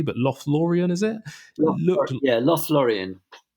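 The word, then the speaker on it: Lothlórien: moved up and i don't know if i pronounced this correctly but lothlorien is it yeah lost lorien yeah lothlorien and that looked like a really special kind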